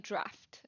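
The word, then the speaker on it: draught: minutes to go so drought is okay it's pronounced like draft okay I see I see so when it's the be beverage the thing you drink it's draft and then when it's the thing where it hasn't rained in a long time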